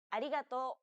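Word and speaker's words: ありがとう: but don't be fooled this character isn't pronounced using an english r sound at all the it's like a mixture between an r and an l sound the there's no such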